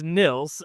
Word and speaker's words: Nils: So it's Nils, and it's spelled Nils. And my mom always says it's like pills, hills, thrills.